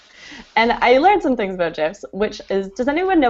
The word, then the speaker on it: GIF: it GIF with a soft G as in gin. So you're being more true to the creators if you pronounce it GIF, although I also acknowledge that GIF sounds very cool.